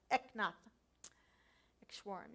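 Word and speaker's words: Eknath Easwaran: It's Eknath, and then his last name is Easwaran. And I'm not sure I'm pronouncing it properly, but that's how I always say it, Eknath Eshwaran.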